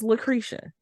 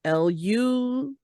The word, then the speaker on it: LaCresha: My name is LaCresha. It's spelled just the way that it sounds, LACRESHA. For whatever reason, though, my name has been butchered. And it'll be like LUTIH. And I'm just like, that is not how you say, not how you spell LaCresha.